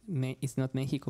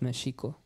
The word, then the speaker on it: México: So even like people think we pronounce, we might tell like that it's not México, but Mexico.